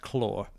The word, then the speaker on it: Khorne: It's pronounced claw.